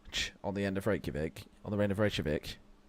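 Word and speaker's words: Reykjavík: Like everyone says Reykjavik wrong. Reykjavik. Yeah, it's technically that.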